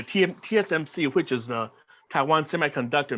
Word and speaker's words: TSMC: The company is called TMSC. It's if I get sometimes I pronounce it incorrectly. Yeah, TSMC, which is the Taiwan Semiconductor Manufacturing Company, in short.